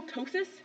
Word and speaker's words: ptosis: different person sorry okay so it's called renal ptosis where the p is silent um one or both of the kidneys